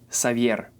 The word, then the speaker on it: Xavier: mixor climax Oxo but if it's located in the beginning of the word it makes the sound s in English it's more like Z or Z but in Spanish it's SE let's see some examples savier